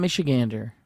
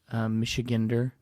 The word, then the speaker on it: Michigander: They write Michiganer, but it's gander. It's gander, baby.